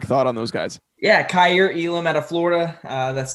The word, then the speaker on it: Kaiir Elam: us a quick thought on those guys yeah cair elam out of florida uh that's the correct pronunciation there just length is the first thing